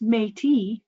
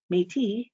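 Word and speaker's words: Métis: is is U rewarding pronounced mate mate as noted on the title page the book introduces the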